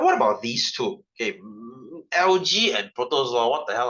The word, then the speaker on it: algae: we have protozoa okay I pronounce this as LG I don't pronounce it as algae because it looks straight that sounds really funny I just pronounce the LG so what are they